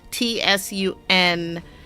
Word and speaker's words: Tsundere: We have this guy who's the somebody tell me how to pronounce that. Tsundere.